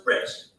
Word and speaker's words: Brest: Their name was Brest. But it's not what you're thinking, okay? It's spelled b r e s t, which is a town in France, which is where their families came from.